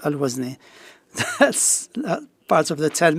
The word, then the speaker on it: Al-Wazni: The name was written in Arabic as Wazni, and it is pronounced Al-Wazani in Cairo as Dr. Ashraf. In the last 12 years, they used to call me Al-Wazni. So that pronunciation stuck with me, and that's how I'm called, Al-Wazni.